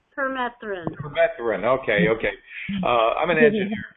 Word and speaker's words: permethrin: You see, with these organisms, when we use things like chemicals like pyrethrin, is that how you pronounce it, Robin? Permethrin. Permethrin.